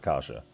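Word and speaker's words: каша: It's spelled KAWA. It's pronounced kasha.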